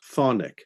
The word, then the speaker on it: chthonic: And yes, this is pronounced chthonic. The CH is silent.